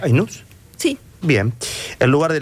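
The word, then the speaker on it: Aïnouz: Cats, a vida invisible de Karim, ¿cómo se pronuncia? Ainus.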